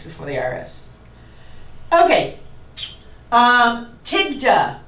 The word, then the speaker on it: TIGTA: the IRS okay um tigda am I saying it right tigda tigta is uh very very